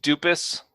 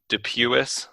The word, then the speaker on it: Dupuis: similarly difficult to spell worst mispronunciation ever anyone has ever said um I think dupus that's that's consistently shown up but um dup Dupuis they'll they'll put that